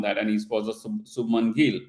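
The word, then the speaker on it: Shubman Gill: and it was a Subman Gill, right? And I just realized that so far I was, pronouncing his name incorrect by, Subham Gill.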